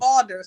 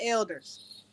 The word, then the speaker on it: alders: And alders, not elders. Oh, okay, my bad.